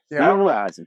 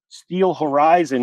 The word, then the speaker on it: Steelrizon: But these guys right here are Steel Ryzen. Correct. Cool. That's how you say it. Steel Ryzen. Every time I would see the name, I would keep thinking Steel Horizon, which I thought I was kind of like emerged there.